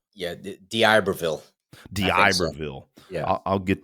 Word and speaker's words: D'Iberville: October 24th through 26th, now I always screw up pronouncing this D'Iberville, Mississippi. Boy, I really screwed that up. Yeah, D'Iberville.